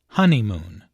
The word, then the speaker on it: honeymoon: There are 3 syllables in honeymoon, with a stress on the first syllable, honeymoon.